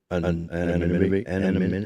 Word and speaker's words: anonymity: But I think people they think that bit of anonymity, how do you say it?